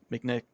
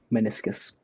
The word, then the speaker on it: meniscus: He y I'm pretty sure to ACL or Mcn Mcnick. How do you say it? Meniscus.